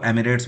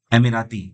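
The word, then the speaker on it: Emirates: वैसे ज्यादातर लोग हमारे देश में इसको एमिरेट्स बोलते हैं, लेकिन इसका सही प्रोनाउंसिएशन है एमिराती।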